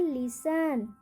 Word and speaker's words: listen: दूसरा है लिसन, लिसन, यहाँ पे टी का उच्चारण नहीं होगा, लिसन, लिसन।